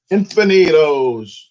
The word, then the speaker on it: Infinitos: It's called Infinitos. You say it like that.